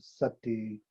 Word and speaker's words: sati: Buddhism, what we call sati, Pali, Sanskrit, smrti, pronounced ati or sati, word origin, noun, Buddhism, 1, mindfulness or awareness, 2, to remember, to recollect, to bear in mind, aka conditioning.